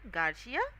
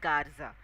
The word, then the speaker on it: Garza: Garcia. Then he says actually it's Garza.